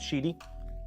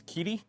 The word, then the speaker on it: QIDI: It's pronounced cheaty. At least that's what the one rep I asked. How do you pronounce it? And they're like, oh, it's cheaty. And then I asked another rep and it's Keaty.